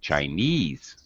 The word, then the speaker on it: Chinese: chinese chinese all right the stress is on ease chinese chinese when you put it